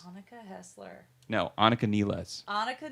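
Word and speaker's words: Nilles: anuka hler no anuka NES anuka NES it looks like Niles but that's how you pronounce it I took German you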